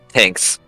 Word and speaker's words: Tinks: Tinks. Hinks. Tinks, like Tink, like tinkering, but without the ER and just an S.